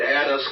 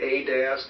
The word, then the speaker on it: Adask: I say it Addis. I'm not the only one who does, but I'd say it's I I pronounce it Addis, but I hear Adask and Adas and I hear a bunch of things.